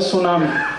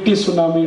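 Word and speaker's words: tsunami: में एक शब्द है सुनामी कैसे लिखते हैं टी एस यू एन ए ए आई बोलते क्यों नहीं टी सुनामी टी सुनामी टी सुनामी कहते जी टी साइलेंट है तो लगाया क्यों हटा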